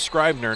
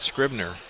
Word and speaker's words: Scribner: They say it's Scribner, not Scribner. So check my pronunciation there.